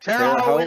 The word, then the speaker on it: Terre Haute: How do you pronounce Terre that? Haute, Terre Haute, Indiana.